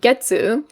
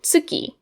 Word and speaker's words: 月: These Chinese speakers pronounce it getsu. We could also call it tsuki. So I'll write this kanji, and depending on how I want to use it, it can be read getsu or tsuki.